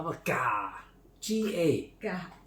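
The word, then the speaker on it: gà: G-A. Ga. That's ga. Means chicken. Not ga.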